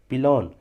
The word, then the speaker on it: pillion: Cycle या motorcycle पर यात्री के लिए एक सीट, उसे बोलते हैं पिलॉन। पिलॉन मतलब होता है पीछे की सीट। पिलॉन की स्पेलिंग है PILLION।